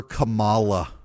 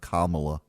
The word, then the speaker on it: Kamala: become the first woman president he called her Camala that's what the Democrats on CNN hung their hat on why does he call her Cala instead of Kamala why does he call her Kamala because he's